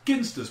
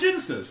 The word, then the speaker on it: Ginsters: worry it happens all the time speaking of pronunciation I only just learned this the other day it's ginster pasties oh I always thought it was giner and then I saw an where it was